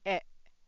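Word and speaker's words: へ: If it's used as a particle, then you should pronounce it as e.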